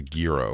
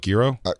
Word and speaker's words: gyro: many times Foe and Gyro is the other one it's a guo I lived in a story too long there was like do you call it Giro one time and then